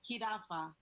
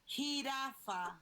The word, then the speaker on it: jirafa: Jirafa. One more time. Jirafa.